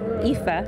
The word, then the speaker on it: Aoife: Aoife. It's okay. That's the story of my life. My name is Aoife, spelled with an A.